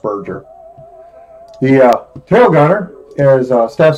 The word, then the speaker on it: Berger: The radio operator, Staff Sergeant William Berger, or Berger, Berger, I think. I think it's pronounced Berger.